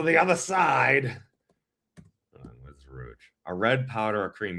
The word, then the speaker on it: Rouge: no, no, no, this No, actually no, I mispronounced it. That's that's not Rogue. That's Rouge. Rouge.